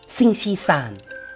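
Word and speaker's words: 星期三: วัน พุธ ชุด กีฬา ซิง ชี ซาน ซิง ชี สาร วัน พุธ สิ่ง ที่ 3 เห็น ไหม ครับ มัน ง่าย มาก เลย ศาล คือ เลข 3 นั่น เอง ซึ่ง ชี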